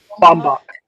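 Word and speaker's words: Baumbach: I think I said his name wrong just now. Um, Bombach.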